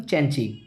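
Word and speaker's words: Cenci: ध्यान रखिएगा, सेंसी word निकलता है लेकिन इसका एक्चुअल प्रोनाउंसिएशन चैंची।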